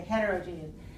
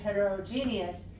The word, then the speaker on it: heterogeneous: not really six four I heard six one when I heard her say heterogeneous I didn't hear it a heterogeneous yeah I heard a heterogenous and usually we will say is heterogeneous and we only say